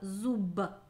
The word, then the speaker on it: зуб: И обратите внимание, что произошло со звуком «б» на конце слова «зуб». Он стал глухим.